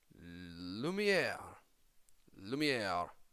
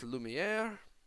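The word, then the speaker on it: Lumière: for you today is Lumia Lou meow it is pronounced Lumiere there's also in the collection there is Belle in her presence peasant outfit there's Cogsworth mrs.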